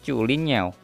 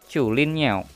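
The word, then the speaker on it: 竹林鸟: Yang pertama di pojok kiri atas ini dibacanya Chulin Niao. Chulin Niao. Ini nama brandnya. Kalau di AliExpress ditulisnya Zulin Niao. Bacanya yang bener Chulin Niao. Aksennya juga harus kayak gitu, Chulin Niao.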